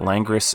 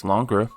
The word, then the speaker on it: Langres: I don't know if I'm pronouncing that right. I know that Langres isn't right, and Google tells me it's Langres. But, we trust Google?